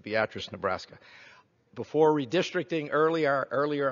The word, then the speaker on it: Beatrice: You chairman Hoffman for clarifying how it's appropriately pronounced Beatrice Nebraska before redistricting earlier earlier I used to